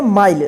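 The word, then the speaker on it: mile: आई एन D behind M आई एल ई इसको क्या पढ़ेंगे माइल रूल आपने पढ़ा था ना ई के उच्चारण नियम में इ का उच्चारण नहीं होगा लास्ट में ई है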